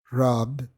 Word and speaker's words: robbed: Me explico, si un verbo termina en una consonante que es voice, por ejemplo, rob, esta no se pronuncia como si fuera ed, sino como si fuera una D. Robbed, como la palabra pared en español.